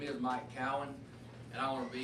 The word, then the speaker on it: Keown: And it is pronounced Keown. If you're going to talk about me, you need to learn how to pronounce my name. We just tell them this, it's Cal win, and the focus is on the win, because in November we're going